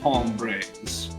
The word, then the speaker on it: hombres: Actually, you said you had no mind to tangle with us hombres. The H is silent.